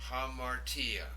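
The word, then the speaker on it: ἁμαρτία: The next word, now notice the rough breathing over the alpha. Hamartia.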